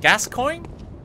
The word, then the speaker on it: Gascoigne: the new crypto but how do you pronounce it gascoigne is that not it i don't know if i can pronounce i am irish here so i might have some trouble no you're correct okay just everything's a